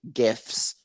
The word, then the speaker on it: GIF: the guy that created gifs said they're pronounced gifs but it's the g stands for graphics it's not giraffix like a giraffe on the savannah jurassic park it's gif